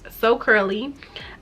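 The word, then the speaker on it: Soul Curly: My business is So Curly, but it's spelled S-O-U-L, like soul, but it's So Curly.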